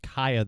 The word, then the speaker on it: Cieha: It's pronounced Cieha, though.